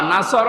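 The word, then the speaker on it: نصر: এ একটা নিয়ম হল এখানে সদ আছে নন সদ নাসর মানে সাহায্য নাসর মানে কি কেউ যদি মুখটা গোল না করে সদ বাদ দিয়ে বলে উচ্চারণ করে নন সিন নাসর মানে ইগল পাখি কথা বুঝতেছেন আকাশ পাতাল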